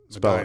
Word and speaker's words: Medina: There's one consonant in between two vowels, so it's Medina.